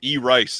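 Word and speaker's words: Erice: those films manful says I believe it's pronounced e rice as in electronic rice you still have to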